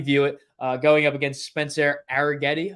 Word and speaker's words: Arrighetti: it, going up against Spencer Arrighetti, I believe is how you pronounce his last name.